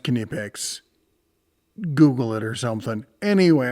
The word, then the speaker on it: Knipex: pouches and such and yes it is pronounced kipic Google it or something